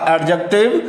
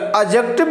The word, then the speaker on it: adjective: pronoun उसके बाद आपका एडजेक्टिव या एडजेक्टिव भी बोलते हैं इसको यहां पर जो डी है वो साइलेंट रहता है ऐसे अगला है आपका